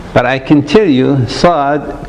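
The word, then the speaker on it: صاد: Now again, there is no letter by itself, but I can tell you Saad pronounces as seen in sunny.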